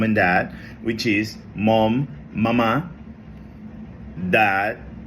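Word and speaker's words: mamá: Again, when you are referring to mom and dad in Spanish, you don't say mama, you have to say mama. You got to put emphasis on the last A.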